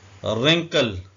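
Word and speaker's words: wrinkle: मतलब होता है कलाई रिंकल इसमें डब्लू भी साइलेंट है और ई भी साइलेंट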